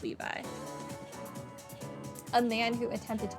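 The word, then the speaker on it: Éliphas Lévi: for instance there's elus Levy usually that's Levi but I don't think the French pronunciation which I'm pretty sure this is a French name would would pronounce it Levi a man who attempted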